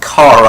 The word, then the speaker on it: Kara: And Kara, yes, it's pronounced Kara.